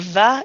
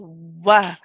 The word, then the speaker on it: واو: Okay, it's not a va, it's a wa, wa. So the lips do not touch the teeth at all.